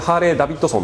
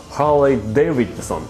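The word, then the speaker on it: Harley-Davidson: ねえまあのみんなハーレイダビッドソンて言ってますけどもあの正しい発音で言うとハーレイデビッドソンですねはいちょっとすいませ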